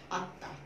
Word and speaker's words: আত্মা: বর্ণটি আনুনাসিক হয়ে গেছে আত্মা, খেয়াল করে দেখো কিভাবে লিখলাম আমরা, এটা মধ্যে মফলা থাকার কারণে মটার উচ্চারণ হচ্ছে না, সংযুক্ত ধ্বনিটির উচ্চারণ দিত্ত হচ্ছে এবং শেষ ধ্বনিটির উচ্চারণ আনুনাসিক হচ্ছে, আত্মা হয়ে গেল।